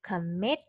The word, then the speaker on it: commit: Cái này nó nằm ở âm thứ hai mình sẽ đọc là commit.